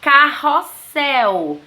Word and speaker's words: Carrossel: nós temos o exemplo Carrossel se eu escrevo Carrossel 2 R Se eu colocar apenas um R vai ficar Carossel entenderam gente é a